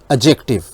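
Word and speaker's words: adjective: ठीक है, आमतौर पे जो स्टूडेंट्स हैं इसकी प्रोनंसिएशन जो है वो एडजेक्टिव करते हैं, तो वो रॉन्ग प्रोनंसिएशन है, क्योंकि इसमें डी जो है साइलेंट है, इसलिए हमने इसको एडजेक्टिव बोलना है, ना कि एडजेक्टिव।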